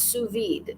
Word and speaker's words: sous vide: I knew the Sue was not like Seuss.